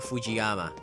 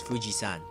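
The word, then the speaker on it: 富士山: In Japanese, it's not Fujiyama. It's Fujisan. Yes. Just a little bit of trivia. The people tend to actually say it wrong. It needs to be changed. It's Fujisan. San means mountain.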